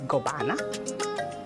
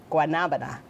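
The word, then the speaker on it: guanábana: This one is guabana. I think I'm saying it right. Marcos, is this guabana? Guabanana. Guanabana.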